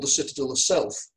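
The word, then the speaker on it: Selph: called the Citadel of Self. It's spelled S-E-L-P-H, but obviously it's a homophone.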